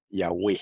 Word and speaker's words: Yahweh: a mostrar ahora, que la pronunciación antigua era Yahweh en cuanto al nombre sagrado.